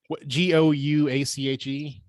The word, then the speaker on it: gouache: excuse my like art in uh ignorance but g-o-u-a-c-h-e gouache okay what is that it's like a